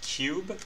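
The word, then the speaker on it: QUBE: kind of like portal it's called cube and I think it's spelled q.u.b.e and I swear to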